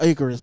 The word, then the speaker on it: Icarus: Am I pronouncing it right? The Cyrus tapes or the Icarus tapes? Icarus tapes.